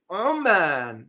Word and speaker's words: Oman: Amman, don't confuse this with Oman. The pronunciation is very different.